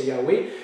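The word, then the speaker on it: Yahweh: avait dans la Bible avant on disait Jéhovah mais maintenant on sait que la prononciation c'est yawei et bien les Juifs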